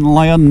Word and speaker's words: Lyon: we're headed into glenn lyon now i think it's pronounced lyon not leon i have this every every year no one's ever put me right l y o n twisties for quarter